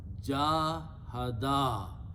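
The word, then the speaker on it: جاهدا: Important thing is that I'm going to add an alif here now. So you have to pronounce it little longer. Jahada.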